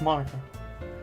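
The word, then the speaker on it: Monika: Mon-Ika. Oh, it's supposed to be Ika. Mon-Ika. No, it's Ika because it's Monica. Yeah, that's how you pronounce it.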